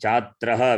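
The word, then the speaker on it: छात्रः: chatra asi. Chatraha. Visarga should be pronounced.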